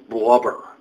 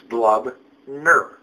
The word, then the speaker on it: Blubner: When people pronounce my last name as Blubber, it's Blubner. Blub and ner. Blubner.